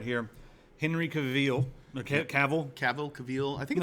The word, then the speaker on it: Cavill: It's pronounced Cavill.